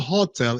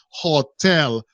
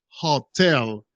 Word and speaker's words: hotel: easy guys hotel hotel pay attention to the pronunciation guys hotel is not hotel is hotel hotel in their second syllabus hotel hotel okay the